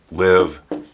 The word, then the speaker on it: live: pronunciation for the verbs live and leave. Sometimes students will pronounce this as leave because in their first language, the I is pronounced as an E.